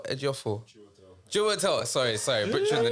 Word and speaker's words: Chiwetel: Kiwato Ejiofor. Chiwetel.